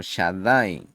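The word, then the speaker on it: Shaddai: No lo pronunciaday con pecado, sino Shadai con Shin, con la letra Shin, que es Metatrón, quien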